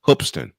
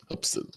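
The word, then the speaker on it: Hoopeston: o p e s o n but it's pronounced hopston hopston I am not making this up folks this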